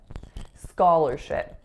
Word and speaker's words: scholarship: next word is scholarship scholarship so listen to these vowels the first one is ska the second syllable is ler even though it looks like lar it is not scholar it's ska ler and then the final